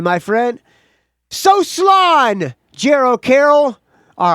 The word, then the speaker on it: slán: I'll do an Irish one for you, but phonetically, because the Irish spelling ain't going to help you pronounce it. It says, so slán, my friend. So slán, my friend.